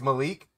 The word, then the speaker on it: Malik: It's Malik.